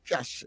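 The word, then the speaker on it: cache: that kind of it sound like cash yeah they there are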